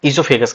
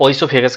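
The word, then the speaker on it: oesophagus: Food pipe का जो English नाम है, साइंटिफिक नेम है इससोफेगस कहा जाता है बेटा इसको। या ओसोफेगस कह दो जो भी आप प्रोनाउंस कर लो इसको।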